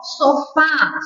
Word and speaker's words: sofá: o ens então ó sofá sofá tem acento porque ela é oxítona terminada em a né café Ah ela